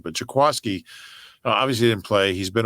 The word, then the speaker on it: Jaquiski: And, I pronounced his name wrong apparently the other day, and somebody gave me grief about it on Twitter. It's Jaquaski. Jaquaski. Yeah. Yeah. I didn't know. I thought it was Jaquiski.